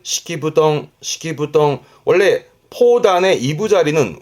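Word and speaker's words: 敷布団: 이때 발음은 시키부덩 시키부덩 원래 포단의 이부 자리는 후덩 후덩 그럽니다만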